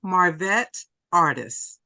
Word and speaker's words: Marvette Artis: Well, just a slight correction, Marvette Artis. Marvette Artis. Okay. Because I get my name butchered all the time.